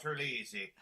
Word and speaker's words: Terlizzi: By the way, 'tis a fine Irish name you have now, Terlizzi.